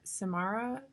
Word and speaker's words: Samara: that yeah I is your is your name pronounced Samara yeah okay cool I gotta write um see